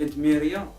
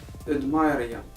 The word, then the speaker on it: Edmyria: هي كلشي كيقول لها ادميريا، ولكن هي سميتها نورمالمون كيف خاصها تنطق ادمايريا، حيتاش كنت كنلعب انايا في دي جو اون لين بحال ليغ اوف ليجند سي لو سويت.